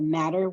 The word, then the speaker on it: Mattr: But there is the Matter wallet, which is spelled MATTR, that you could look at.